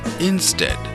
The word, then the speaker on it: instead: is stomach and chem-20 combination e ear is read as a so I n SD e a D is instead and be our e